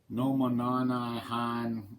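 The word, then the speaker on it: Nomonhan: Last turn we saw the Soviets do the Nomonanahan incident. Yes, that's how you pronounce it.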